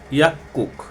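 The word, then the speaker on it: 약국: ইশিবি হচ্ছে 22 অধ্যা এখানে বলতেছে যে ইয়াক্কুক এখানে এইটাকে আমরা গর মত উচ্চারণ করে ক এর মতো উচ্চারণ করছি কারণ হচ্ছে গিয়োক বাচ্চিমের পরে যদি আবার গিয়ক আসে এটা সাঙ্গিয়কের উচ্চারণ হয় এজন্য আমরা বলতে পারি ইয়াকুক ইয়াকুক মানে হচ্ছে যে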